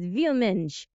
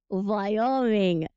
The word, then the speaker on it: Wyoming: It's Vyomenge. No, Boris. This is American state. It's Wyoming.